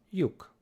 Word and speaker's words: lyuk: And then the same sound spelled differently, we spell it with an L and a Y. This is also ye, ye, the y sound. And our example for today is yuk, yuk, which is a hole.